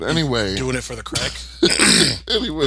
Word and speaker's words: craic: I'm pretty sure Stephen King also does crack rock cocaine.